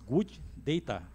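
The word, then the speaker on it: GoodData: Ferramenta Google, aliás, Good Data. Essa é a pronúncia, né?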